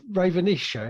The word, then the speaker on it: Ravenisha: a start so the rise of the rav ravenisha is that how you say it yes is